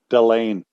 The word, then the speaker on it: Delaney: you the same thing delaney it's swedish it's the biggest county in sweden that would be like